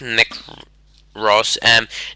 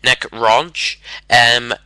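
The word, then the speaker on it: Roche: Not Nick Ross. Nick Ronch. Nick R-O-C-H-E. For those of you who know how to pronounce it, you know, figure it out.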